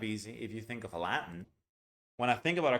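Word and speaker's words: Aladdin: is kind of easy if you think of a Latin when I think about a carpet I think about a Latin and that's the way we pronounce it I know it's weird but no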